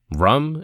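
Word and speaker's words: Ram: Rum is the syllable for fire, yum for wind, and hum for space. All these bijas rhyme with thumb, though I should take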